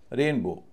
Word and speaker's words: rainbow: रेनबो रेनबो आप देख रहे होंगे रेन पे मेरा ज्यादा स्ट्रेस है। बो पर कम है।